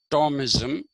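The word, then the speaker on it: Thomism: called tomis t h m i m but pronounced Tom ISM uh he was called the christianized Aristotle okay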